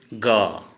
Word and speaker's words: গ: अब ये ग, हिंदी में अ उच्चारण होगा और असमिया में ओ उच्चारण होगा।